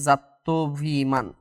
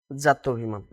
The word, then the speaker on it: জাত্যভিমান: এই যাত্রাভিমান শব্দটা কিন্তু প্রমিত নয়, এটার মূলত প্রমিত উচ্চারণ হচ্ছে কি জাত্যভিমান, মানে এটার প্রমিত উচ্চারণ হচ্ছে কি জাত্যভিমান, প্রমিত উচ্চারণ হলো জাত্যভিমান।